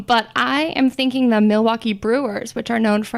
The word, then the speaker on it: Milwaukee: this Alice Cooper what Milwaukee means actually it's pronounced Milwaukee which is Algonquin for the good land I